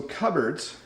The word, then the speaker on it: cupboards: So cupboards, notice it's not pronounced the way it looks.